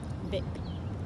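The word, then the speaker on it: Bich: Vic. Really? But it's spelled bitch. That's sick. Well, B-I-C-H, yeah.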